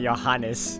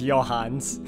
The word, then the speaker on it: Johanns: to help you out i've been pronouncing it your harness it's your hands you two can start